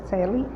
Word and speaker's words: Coeli: Coeli, C-O-E-L-I, pronúncia Celi.